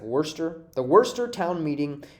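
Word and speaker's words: Worcester: pronouncing this wrong but i think it's like wurster the wurster town meeting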